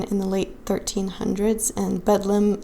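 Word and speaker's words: Bedlam: Uh this hospital was in London in the late 1300s and Bedum is basically a distorted or regional English pronunciation of Bethlehem.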